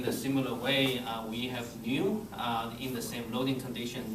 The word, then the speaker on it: nu: The Poisson ratio we use in nu, pronounced as nu.